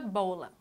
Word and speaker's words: bola: Como exemplo, aqui nós colocamos a palavra bola. Qual é a sílaba tônica de bola? Bola, bola, bo. Então, a classificação dela é paroxítona.